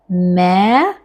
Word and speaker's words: merci: to pronounce now, because in French language letter R is bit tricky. So we have to pronounce from back of our throat. Let's try. It is merci.